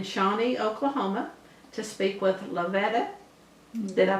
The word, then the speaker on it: Lovetta: today we're in Shawnee Oklahoma to speak with Lavetta did I pronounce that right yes ma'am Lavetta Carroll and this is part of our Oklahoma